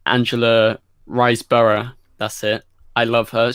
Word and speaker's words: Riseborough: I love him in that oh and Angela rice Berg sorry how do you say her name Angela riseborough that's it I love her she's she was